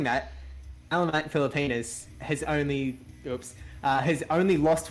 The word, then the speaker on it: Pilipinas: So, Pilipinas. Very be careful on that ending.